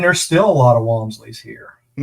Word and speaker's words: Wamsley: And uh but uh yeah, and there's still a lot of Wamsley's here. Um most most people mispronounce it, say Whamsley, but you got it right.